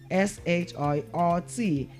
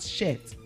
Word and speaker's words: shirt: SHIRT. And SHRT is pronounced as what? Shirt. It's pronounced as what? Shirt, and not shit. It is not shit, but what? Shirt.